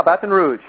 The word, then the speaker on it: Baton Rouge: Did I pronounce that right? Yeah, Baton Rouge.